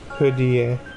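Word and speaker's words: 蝴蝶: Actually, I want to look this up because I'm wondering like how it's actually pronounced. Butterfly in Chinese. Yeah. Hudie.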